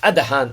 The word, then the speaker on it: Adahan: more about him Rabbi about the great RAB pronounced Adan also in different uh